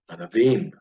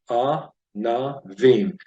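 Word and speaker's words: ענבים: Hebrew Bible, the word for grapes is anavim. Anavim. You go ahead and break this word into syllables. Three-syllable word, anavim.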